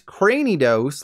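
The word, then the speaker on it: Cranidos: cranny of your granny rather it's craney dose like Cranium because crani dose's brain is so big it's busting through its cranium the evolved form of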